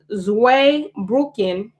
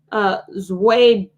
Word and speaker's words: Zweibrücken: The founder under the French umbrella, they were largely recruited from Zweibrücken, Germany.